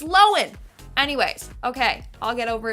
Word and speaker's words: Lohan: says her name and turns out it's pronounced Lohen, not Lohan. Like, we've been saying it wrong for years. My whole life is a lie. I've been pronouncing it Lindsay Lohan. It's Loen.